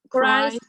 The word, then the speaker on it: Christ: the It's a long I sound. Christ himself.